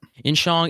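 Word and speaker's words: Insiang: How do you spell that? Inshong.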